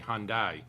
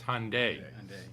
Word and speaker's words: Hyundai: I have to give you credit because we get reprimanded all the time because a lot of people say Hyundai. It's Hyundai. That's the proper pronunciation of it.